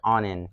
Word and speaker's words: Onin: Onin is okay. It's actually pronounced Onin, right?